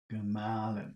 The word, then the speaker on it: Gemahlin: Gemahlin. That's the middle one. That's number 2.